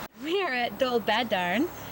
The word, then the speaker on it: Dolbadarn: In Welsh, just for your information, the emphasis is usually on the second to the last syllable. So in English, I would say dobadarn and they still say dolbad.